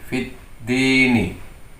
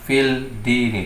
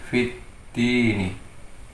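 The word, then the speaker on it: فِي الدِّين: Membacanya menjadi fit dini. Jadi fit dini, bukan fil dini, tapi menjadi fit dini.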